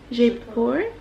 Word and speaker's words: Jaipur: to be a starfish is it Jaipur Jaipur look J / j / Jaipur J / we didn't know how to say it the whole time lower down J Jaipur deeper deeper so my plan was